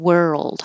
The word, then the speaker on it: world: practice pronunciation of because it is a weird movement going from the R, were, my tongue tip is curled back, and then going to the L, world.